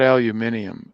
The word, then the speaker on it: aluminium: yeah but even so not aluminium that's maybe how the brits pronounce it i know i i